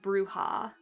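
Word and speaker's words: Brujah: But I believe it's officially pronounced Bruja. At least all the other games have been pronouncing it Bruja, so... But, like, that's crazy. Bruja. Almost sounds like bruise.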